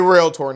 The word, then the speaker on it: realtor: It is a realtor. Now that I've made my point, just understand that that's the correct way to say it. If you add any extra syllables in there, you do you, boo-boo.